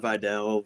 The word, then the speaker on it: Vidal: Um I've heard Videl Vidal. Vidal. Yeah.